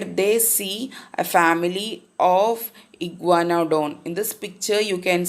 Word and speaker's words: iguanodon: I am reading the part, and grandma is now reading a part where they see a family of iguanodon.